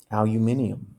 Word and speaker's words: aluminium: Would you say aluminium is the proper way to say it? That's actually the right way to say it. That sounds like the French version.